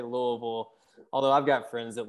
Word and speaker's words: Louisville: i just told you if you're from there you usually say louisville although i've got friends that live there that say louisville um but usually you